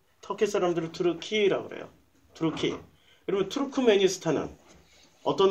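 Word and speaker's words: Türkiye: 투르크메니스탄이 터키를 우리는 터키 이렇게 발음하지만 터키 사람들은 자기들을 투르키 이렇게 발음해요. 터키 사람들은 투르키라고 그래요.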